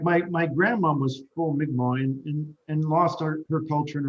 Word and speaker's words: Mi'kmaq: Would you say the name It's of your Mi'kmaq. Mi'kmaq? All Yeah. right, so thank you, and pardon my white boy pronunciation.